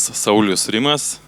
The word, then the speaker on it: Saulius Rimas: My name is Saulius Rimas. I come from Kaunas, Lithuania. Well, we should pronounce it as Lithuania in English in correct